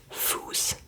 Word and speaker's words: Fuß: So Fluss meaning river, and then Fuß meaning foot. But you see, this one is pronounced as a long vowel, so then there's the sharp S behind that and not the double S.